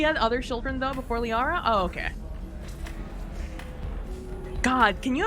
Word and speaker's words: Liara: Not Kiara. Liara.